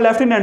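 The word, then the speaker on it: lieutenant: जैसे ल्यूटिनेंट मैं बोलता हूँ लेफ्टिनेंट, लेकिन दिमाग में चलता है ल्यूटिनेंट।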